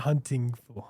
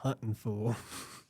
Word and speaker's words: Huntin' Fool: Yes, the full redneck pronunciation, not hunting fool, Huntin' Fool.